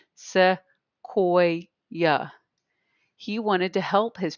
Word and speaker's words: Sequoyah: So if you did not know how to pronounce his name, Sequoyah.